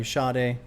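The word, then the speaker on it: Sade: want to check out uh love Deluxe by shade hopefully that can happen soon sh that's how you pronounce it we do yes okay this is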